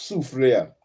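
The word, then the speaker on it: Soufrière: sua I was close the word sua is pronounced sufa sua I was close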